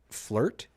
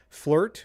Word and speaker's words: FLRT: And so, Lauren, is this energy drink called Flirt? Is that how you would pronounce it? Is that fair? It's called Flirt with No I, and it So has flowers, and it looks very feminine.